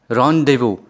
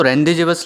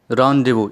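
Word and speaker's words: rendezvous: दोस्तों, देखने में तो रेंडेजेवस लग रहा है, तो लेकिन हम इसे क्या कहेंगे? रॉन्डेवू। इसे कैसे प्रोनाउंस करेंगे? रॉन्डेवू। दोस्तों, ये जो वर्ड है, this is basically French word, जिसका मतलब होता है एक मीटिंग, ठीक है।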